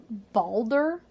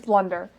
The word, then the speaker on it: Blunder: And that they were made by the original Balder. Is that how you say it? I think it's Boulder. Boulder King. Yes. Blunder or I think it's Blunder. It's Blunder.